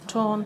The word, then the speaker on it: Táin: Táin, thank you.